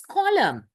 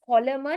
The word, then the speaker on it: column: that colon yes it's column always use it colum that is one so don't pronounce it as column it's the column rows and the right so